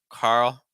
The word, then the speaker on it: Carl: more a very open Carl finished with a dark l so it's not Carl Know Carl Carl William common enough name in